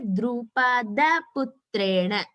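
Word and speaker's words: Drupadaputrena: So it has to be pronounced as Drupada Putrena.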